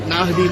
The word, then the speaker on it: Nahdi: When it comes Naahdi, I pronounce it right, Naahdi mandi.